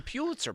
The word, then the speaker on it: Pulitzer: Then he got corrected and then mispronounced Pulitzer. It's the Pulitzer Prize.